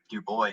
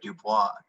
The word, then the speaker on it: Du Bois: abolitionist visualizations um and actually that is a common mispronunciation dubois did uh specify that he had a preference for dubois instead of dubois to break from the french colonization um but yeah so